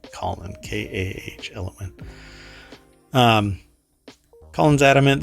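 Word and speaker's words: Kahlon: says it's k-a-h-l-o-n so I mispronounced it as colon but it's calling k-a-h- element um Colin's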